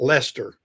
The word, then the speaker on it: Leicester: It's not pronounced the way it looks on the board.